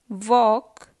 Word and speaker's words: walk: no not knowledge knife silent l walk talk chalk half fork silent and autumn column government